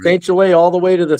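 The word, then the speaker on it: St. Gelais: You said it wrong. Goliath? That's okay. Everybody gets it wrong. It's St.Gelais. Gelais. Nice to meet you, though.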